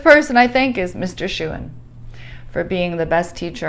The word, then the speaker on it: Shewan: And I just remember the first things you're saying, you're like, my name is Shewan, pronounced like Shewan, And then I remember you saying, for some